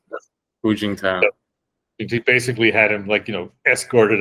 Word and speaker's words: Hu Jintao: Hu Jintao.